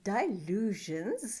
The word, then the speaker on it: Dylusions: Alors aujourd'hui, je vais partager avec toi une création que j'ai faite dans mon carnet de Dylusions. Je le prononce plutôt façon anglais.